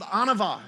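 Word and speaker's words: ענוה: And this word humility, it's called anava, is how you pronounce this.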